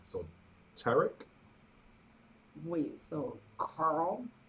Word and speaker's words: Tariq: Mine's Tariq, but pronounced like Derek with a T. So Tarek.